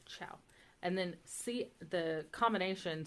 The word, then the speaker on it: ciao: said like a k c before I or E is pronounced like CH so like ciao it's a c i a so you would say ciao and then see the